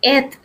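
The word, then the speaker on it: את: este marcador de objeto su pronunciación es et y y no se no se traduce pero tiene una alef y una t ese marcador de objetos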